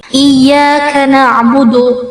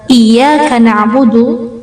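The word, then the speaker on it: إِيَّاكَ نَعْبُدُ: iyaka nabudu tasdidnya laf Iyaka na'budu fauqalai yaitu di atas ya. Iyaka na'budu jangan terlalu kuat. Iya. Nah, itu kurang tepat. Kemudian jangan dipanjangkan juga. Iya. Itu malah jadi mad. Harusnya iyaka na'budu wa iyaka nastain.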